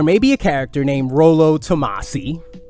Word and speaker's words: Rollo Tomasi: There may be a character named Rollo Tomasi, right? Because that's how it's properly pronounced.